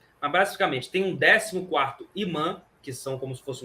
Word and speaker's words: imã: voltasse, né, ou mã, como vocês quiserem chamar, eu falo imã que é o a pronúncia voltar, se ele pudesse sair do aeroporto e ir direto para essa mesquita, tá entendendo?